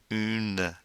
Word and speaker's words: une: have une boutique now remember the French you is not a you it's a boo and to do that we go e keep that e sound going and making with your mouth ye mmm boutique a